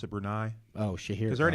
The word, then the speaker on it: Brunei: with a BB are Bria Bria say hey pronounce it Brunei oh she hears or an Indonesian country Myanmar's